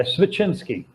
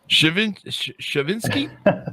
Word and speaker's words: Svechinsky: Yeah, Svechinsky. Shavinsky? No, Svechinsky.